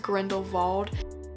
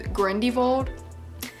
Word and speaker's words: Grindelwald: you say his name it spelled Grindelwald but i think it's pronounced Grendel vault I hope thought his name was guarendi vault so who knows the